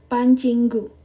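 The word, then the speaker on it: 반 친구: Teman sekelas itu bacanya adalah Ban Cinggu. Oke, jadi teman sekelas bahasa Koreanya adalah Pancinggu.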